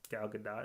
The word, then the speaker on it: Gal Gadot: Wonder Woman for the most part all get-out gal gadot is how you say it yeah actually saying it in my head I've always pronounced a good dough yeah cuz that's how